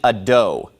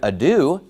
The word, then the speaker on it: adieu: pronounce the word adieu he pronounces it a doe well obviously if you say a doe no one's going to know what you're talking about but if you say the word adieu that's a common word